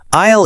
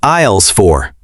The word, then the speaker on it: aisle: Aisle is a good word to learn. Let's explain it. Yes, aisle is spelled a i s l e, but the letter s is silent.